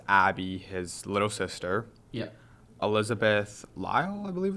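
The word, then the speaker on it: Elizabeth Lail: Elizabeth Lyle, I believe it's pronounced.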